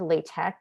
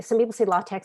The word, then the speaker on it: LaTeX: You don't pronounce the X, it's kind of a hard K sound.